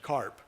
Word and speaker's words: CARP: I proposed, to rhyme with WARP, the Consortium for the Advancement of Radiation Protection, CARP.